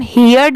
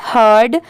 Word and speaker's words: heard: HEARD, इसे हम हियर्ड नहीं पढ़ेंगे, इसकी प्रोनाउंसिएशन है हर्ड।